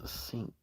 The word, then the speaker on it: Sikh: It's sink. You say it like your kitchen sink.